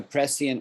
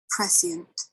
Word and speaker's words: prescient: knowing beforehand a press so you would you would pronounce this as a prescient warning right right so somebody give a prescient warning about the tsunami and tonga right somehow they knew beforehand right prescient you hear that prescient um different from premonition